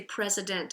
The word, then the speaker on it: president: You'd put the division after the D, and you wouldn't say id, you'd say president.